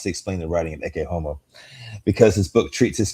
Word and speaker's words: Ecce Homo: Ecce Homo.